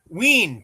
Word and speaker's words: Ween: Ween to rhyme with Yeah, I figured Dean.